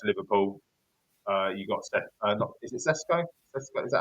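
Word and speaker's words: Šeško: Currently going to Liverpool, you got is it Sesko? Sesko, is that how pronounced? I'm sure it is. Sheshko, yeah.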